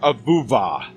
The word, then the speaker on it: avuva: Then he began a chanting, the principal word of which sounded phonetically like avuva. The tribal members, men, women, and children, responded avuva, avuva, avuva.